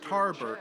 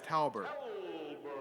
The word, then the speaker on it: Talbert: spelled wrong on screen it's not tarbert it's talbert caliber with an l they spell it with